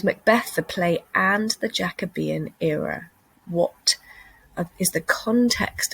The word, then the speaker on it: Jacobean: the jacobean era looks like jacobean but it's pronounced the jacobean era and that's because king james king james